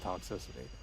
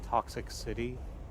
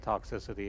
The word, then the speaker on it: Toxicity: And so we always pronounce the system of a down album as toxic city because, you know, it had like the Hollywood sign out front.